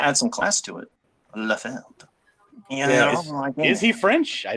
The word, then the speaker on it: Liefeld: Yeah, And Rob, he I think he himself pronounces his name Liefeld.